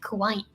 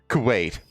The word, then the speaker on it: Kuwait: dictator Saddam Hussein invaded Kuwait, triggering the Persian Gulf War. Kuwait. Not Kuwait. Kuwait. You sound like Hamza Youssef when you say it like that.